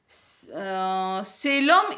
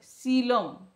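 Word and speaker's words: coelom: हाँ, सीलम इज, अच्छा यहाँ पर सीलम का स्पेलिंग थोड़ा सा गलत है, सीलम नॉट सेलम, सीलम, हाँ ठीक है, सीलम का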